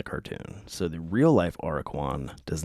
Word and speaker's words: Aracuan: There is a real bird called the AIR-uh-kwan, more often called the plain. Wow, what? Chacala? Chachalaca. You tell me how that's pronounced.